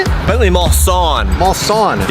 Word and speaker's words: Mulsanne: Mulsanne.